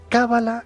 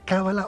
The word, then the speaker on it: cábala: noches buenas noches pedro es cábala con el acento en la primera vocal cábala o cábala a ver